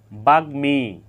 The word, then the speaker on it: বাগ্মী: বাগ্মী, এখানে গয়ের সাথে মফলা যুক্ত হয়েছে। গয়ের সাথে মফলা যুক্ত হওয়ার কারণে এখানে মফলার উচ্চারণ অবিকৃত রয়েছে।